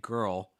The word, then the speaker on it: girl: little bit tricky okay so when you're saying girl start off just even get that first syllable right just gir ger then you can curl up the tongue a little higher into that oh sound girl girl girl girl